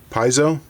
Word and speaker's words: piezo: Piezo? How do you pronounce it? The art student in me wants to say piezo, make it sound Italian.